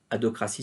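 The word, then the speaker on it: adhocratie: Adocratie, ça s'écrit A-D-H-O-C-R-A-T-I-E, l'adocratie, qu'on appelle aussi la configuration adocratique, comme organisation ad hoc, organisation taillée sur mesure pour réaliser une mission, j'y reviendrai.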